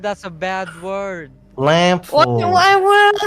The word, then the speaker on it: Lamphor: LAMPHOR. Lamphor. Lamp whore? But the PH is like F. Lamphor. Lamp whore? Lamphor. Yeah. Our Papa Lamphor. said that's a bad word. What Lamphor.